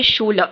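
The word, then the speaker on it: Schule: Book फिर next यह वाला शूल इसको कोई भी यहां पे शू ले आप प्रोनाउंस मत कीजिएगा। नहीं तो आपकी मेमोरी में ये शू ले ही बैठ जाएगा। अगर आप शू ले बोलते थे तो नहीं ये शूल ल है।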